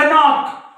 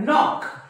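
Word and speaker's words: knock: चा उच्चार होत नाही तुम्ही असं म्हणतात का कनॉक कनॉक नाही नॉक नॉक नॉक म्हणजे या के चा उच्चार होत नाही मग या के चा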